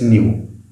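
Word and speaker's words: ν: proton energy of each photon is hd it's new this is new this thing is how we pronounce it again this is how we pronounce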